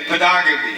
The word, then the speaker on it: pedagogy: He says, strengthen the knowledge of the United Nations by pedagogy.